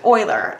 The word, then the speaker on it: Euler: Swiss mathematician because it was Leonard Euler we pronounced Euler a lot of people think it's Muller and